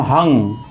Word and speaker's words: हं: ऊपर जो बिंदी है है के ऊपर बिंदी है उसका आ आधा न बोलना है और आधा अंग आधा ग जैसा उच्चारण करना है हम हंग अहंग हनुमते रुद्रा तमका हम